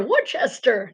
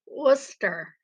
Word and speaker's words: Worcester: trying to pronounce that what's esther worchester no it's worcester similar to wooster ohio only it's worcester so um but i'm